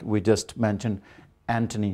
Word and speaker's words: Anthony: And Thomas is usually pronounced as Thomas. It should be Thomas, like we just mentioned, Anthony, not Anthony.